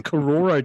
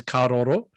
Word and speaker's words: Karoro: Second tier is the Kororo tier, or otherwise pronounced as Karoro.